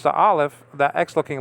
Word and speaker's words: aleph: Okay, so you don't pronounce the aleph. That X-looking letter is a nothing. I mean, it has no pronunciation. Okay, that's a silent letter in Hebrew.